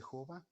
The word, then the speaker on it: Jehová: idioma hebreo y entonces el nombre se pronuncia de jova y les decía el